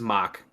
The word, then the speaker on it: Mach: Or what is mock? Mock is MACH. like a MACH? Mac? Mock. It's pronounced Isn't that mock.